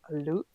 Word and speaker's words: Luts: they're like it's loose it's not luts it's korean okay yeah exactly right